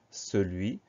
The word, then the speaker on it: celui: Donc on fait simplement attention à ce son S au début du mot qui va se traduire par un C, sinon le reste, tout